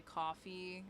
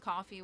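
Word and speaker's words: Ko-fi: she donated via my coffee account once. It's It's I think it's spelled Kof FF E. It's just coffee with a K and it's like a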